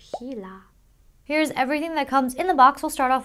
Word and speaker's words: Gila: gaming hila gaming mouse it's spelled with a G I want to call it Gila or GAA but it's hila here's everything that comes